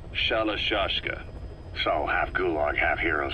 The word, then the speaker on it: Shalashaska: The guerrillas were using the name amongst themselves, and by the time I got to hearing about it, pronunciation had wound up as Shalashaska.